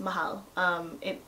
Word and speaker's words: Mahal: If you guys ever see on my Instagram or my Snapchat and I say Mahal, that's how it's pronounced, Mahal.